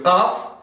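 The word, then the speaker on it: ق: Faites attention pour la prononciation du qaf. C'est une lettre un peu, je vais dire, difficile pour les francophones. C'est-à-dire, il faut bien prononcer le qa. Qa, comme la poule.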